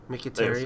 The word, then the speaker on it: Mkhitaryan: Apparently it's pronounced Mkhitaryan. Mkhitaryan.